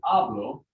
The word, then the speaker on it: hablo: and i say hablo what's what's getting the accent the ab or the low exactly because if it doesn't if it ends in a vowel or an n or an s then it's going to get accented on the second to last syllable um i'll take another